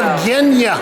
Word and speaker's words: Yevgeniya: I got Kathy Bradford, she's going to give me the correct pronunciation. Go ahead. We're at Yevgeniya's show. Yevgeniya.